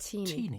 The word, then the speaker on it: Tini: It's actually pronounced Tini.